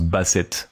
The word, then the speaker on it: basset: si c'est juste que Ça se prononce bassette en en anglais.